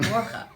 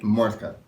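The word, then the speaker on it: Mordcha: Morcha. Did I say it right? man. More glottal. Do it again. I don't want you to spit all I don't over the even- table, but. Mortka.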